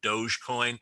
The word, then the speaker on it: Dogecoin: I'm a fan of medieval history, so I would call it Dogecoin after the rulers of medieval Venice were called Doges, Doges.